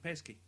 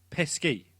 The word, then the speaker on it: Pesci: American uh is pronounced pesky pesky p e s k i is the pronunciation Joe pesky I have never said no I don't believe that at I think that's someone like you.